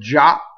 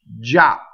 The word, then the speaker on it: già: The word già is a strong monosyllable. Già.